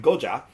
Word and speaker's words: Goya: other companies for instance Goya um or you know in the in the more uh appropriate Puerto Rican pronunciation goja um and being from Vineland you hear both yes um because of our